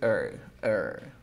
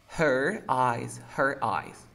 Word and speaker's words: her: Si tú quieres enfatizar, dirías her. Pero si estás hablando rápido, dices her. ¿Ya? Yeah. Entonces en la primera, puede ser cualquiera de los dos. Puede decir her eyes.